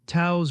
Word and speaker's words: Taos: "Taos," Rex said. "Rhymes with house or mouse or, well, hello."